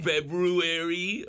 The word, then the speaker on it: February: feel it's just like am I supposed to pronounce the r February February or do I February I just say I don't mess with the R I say February I think the r is silence isn't it February some